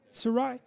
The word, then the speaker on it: Sarai: i don't know how to say that sarai sarai it's sarai to begin with yes is that